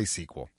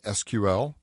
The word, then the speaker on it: SQL: in SQL Server 2012 I don't care how you pronounce it I say squl I know some people particularly a lot of the European folks will say SQL just use the acronym um I don't think